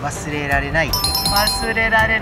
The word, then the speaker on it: 忘れられない: You have to say "wasuRErarenai" to pronounce it right!